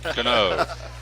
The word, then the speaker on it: Cano: Robinson Cano, right?